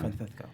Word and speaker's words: Francisco: Say it right. The Castilian pronunciation. Francisco.